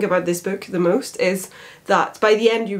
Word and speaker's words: Ys: a lot of inspiration from is which is spelled ys and it's a legends